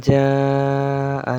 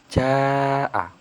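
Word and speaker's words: جاء: Lalu ada kata jaa. Jaa ini memiliki hukum bacaan yang disebut mad wajib mutasil. Sebabnya ada mad tabi'i bertemu huruf hamzah dalam kalimat yang sama atau dalam satu kalimat. Dan cara membacanya itu dipanjangkan 4 sampai 5 harokat.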